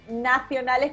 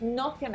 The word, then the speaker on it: nocionales: Claro, no es nacionales, que cuando uno lo escucha dice que está pronunciando mal, no, es nocionales.